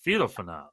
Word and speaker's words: Viertelfinale: The Viertelfinale. How do you say that in German? Viertelfinale. Viertelfinale. Viertelfinale. Viertel with an R, right? Yeah, Viertel. Like four. Like Viertel. Yeah, like a quarter.